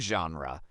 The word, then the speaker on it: genre: This word comes from French, so it's pronounced with a soft sound dash zh and dash ru dot.